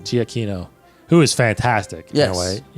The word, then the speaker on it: Giacchino: Michael Giacchino. Giacchino, who is fantastic.